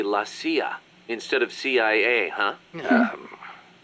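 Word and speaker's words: la CIA: around here they say laia instead of CIA huh um nothing strange about it that's how it's pronounced when you read it in Spanish it has the feminine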